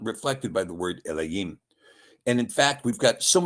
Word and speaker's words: Elohim: Now, Elohim is the correct pronunciation. There is no O in it.